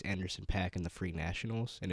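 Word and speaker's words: Anderson .Paak: I've been getting into Anderson PAC that's how you pronounce his name is it a recent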